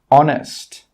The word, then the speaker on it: honest: Another rule with H is that H is sometimes silent when it comes at the start of a word. Some common examples are hour, honest, honor. In all of these words, we are not pronouncing the H sound. We are not pronouncing the letter H.